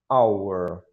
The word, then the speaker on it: our: Cuidado com a pronúncia. Ó. Vou até marcar essa letrinha, porque não tem o som de o, né? Tem o som de a. Então, our.